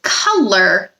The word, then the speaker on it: color: Color sounds different than how it's spelled. It's got the schwa sound in the first syllable, ka, Second syllable is lur, which sounds like but it's not spelled the same as most other words.